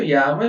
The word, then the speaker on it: llamas: É assim, não seria o certo, llamas, mas todo mundo vai entender, tá tranquilo. O certo seria você fazer um ênfase no, porque são dois L's. Você fazer um ênfase tipo, como te llamas?